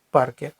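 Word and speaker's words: parque: Але тут є буква у. Вона не читається, тому що це буква у. яка відноситься до буквосполучення ку. Таким чином, вона не вважається за голосну, не вважається, що вона є. І наголошено буде передостанній склад парке.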